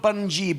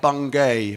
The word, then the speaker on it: Bungay: Bunge yeah bogey button not bungee bunk Bunge although it sprout is written you know it's spelt Bungay but you guys say Bunga you can was tell us it was not from the town they go oh I went to bung gate it's Bunge monkey right cruise ship